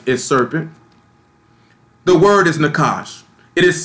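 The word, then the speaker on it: nachash: The word is nakash. It is spelled N-A-C-H-A-S-H, Nakash, N-A-C-H-A-S-H.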